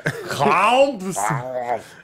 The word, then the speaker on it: Krampus: It was definitely two syllables, one vowel. Yeah. Krampus.